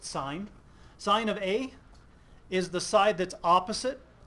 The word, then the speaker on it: sin: So on this triangle, our abbreviation for sine is SIN. We pronounce it sine.